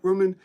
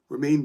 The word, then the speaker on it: Romain: Roman, that's not how you pronounce his name. As for picnic poster now, yes. Bardet. That's it. I'm not pronouncing his name. Romain, but oh my goodness, I feel like a complete idiot.